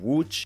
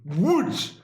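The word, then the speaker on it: Łódź: And rounding out for third place is the city of Wuch, which means boat, nearly Wow, the pronunciation is fantastic. Wuch. Wuch.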